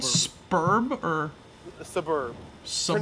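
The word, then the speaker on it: Sburb: Suburb. Pronounced like suburb, but like spoken quickly.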